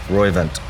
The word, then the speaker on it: Roivant: talk about the company that you started in r-o-i-v-a-n-t how do you say that roivant Roy event let's talk about that what prompted that yeah